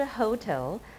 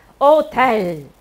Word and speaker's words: hotel: 不是 hotel, hotel.